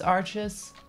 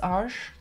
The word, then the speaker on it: Arches: almost all the time is it true that this is not how you pronounce arches it's harsh the arch paper I